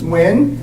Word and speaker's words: Nguyen: my name is win n guu ye n and it's pronounced simply w i n wi so can we say